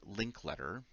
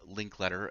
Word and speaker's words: Linkletter: a community member, Brian Linklater. Uh, um, in fact, that's the URL too, Brian Linklater, I believe, .com. He has written. It is Brian Brian Linkletter, Linkletter. So it's spelled exactly as it sounds.